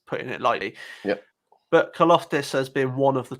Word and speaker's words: Karlaftis: Number 7, George Karlaftis, edge from Purdue. That's the first one I've butchered there. I think that's pronounced Karlaftis. Karlaftis. Okay, we'll go with yours.